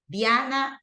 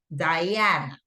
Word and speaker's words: Diana: Diana also is in Spanish. In English, it's Diana, okay?